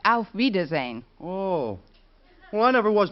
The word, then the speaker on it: auf Wiedersehen: car and stretch actually the word you have in mind is pronounced auf wiedersehen oh one of it